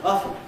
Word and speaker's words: often: And at one time, until the late 19th century, the word often was only pronounced often.